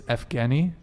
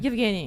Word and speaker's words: Yevgeny: It's Evgeny. Imagine moaning that. How do you say that? Yeah, I dated the guy with that name. Evgeny. Yevgeny.